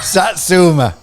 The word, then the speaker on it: satsuma: Satsuma. A good satsuma. Can you spell it for me? Oh, man, I knew you were going to say it. Are you saying sack or sat? Sat.